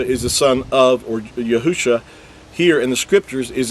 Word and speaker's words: Yahusha: spelled with 5 letters, which translates into Yahusha, and that's the original text. Now again, with vowel points, it's going to say Yahushua, and that's because they